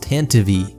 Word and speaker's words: Tantive: For one, you're probably going to see people in the comments saying it's pronounced Tantive, which does seem to be technically correct, but it's just silly.